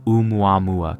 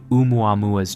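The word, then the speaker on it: ʻOumuamua: The word begins with an oina, not an apostrophe, representing a glottle stop in Hawaiian pronunciation.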